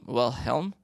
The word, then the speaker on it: Wilhelm: But I honestly don't know if I'm going to pronounce it correctly. Sure, give it a try. Leonardo Wilhelm DiCaprio. Yeah, Wilhelm. It's Wilhelm.